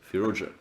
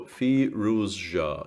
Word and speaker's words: Firouzja: So Firouzja, yeah, there should be like a it's not just a zh. There has to be at least a hint of the z in it, and it feels like